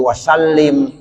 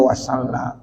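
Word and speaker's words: وسلم: Kadang-kadang ada tuh imam baca wa sallallahu ala sayyidina Muhammad wa ala alihi washabihi wasallim. Ya, salah. Ya, jadi bacanya wasallam.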